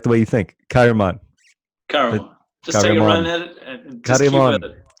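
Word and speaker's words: Chaeremon: Kairimon. Kairimon? That sounds very Egyptian. I like it. Well, Kai as in Christ. So the CH is because he wrote in Latin and Greek.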